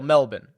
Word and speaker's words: Melbourne: I believe that Royal Melbourne is probably the best comp, or as our Australian friends would say, Royal Melbourne would be the proper way to pronounce that.